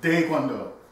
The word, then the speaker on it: Taekwondo: So, DaeGwonDo, meaning, and there's no T in the Korean language either. It's a D-A-E when pronounced properly. It's like a T-D sound saying DaeGwonDo.